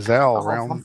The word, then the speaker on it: Zal: Hey, Becky, say hi to Zal. Rhymes with Hal. Or Pal.